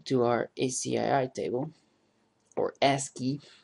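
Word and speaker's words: ASCII: our ACI table or ask key as it's properly pronounced actually uh we see that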